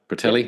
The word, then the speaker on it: Bertelli: I've got that pronunciation right, I hope. Bertelli.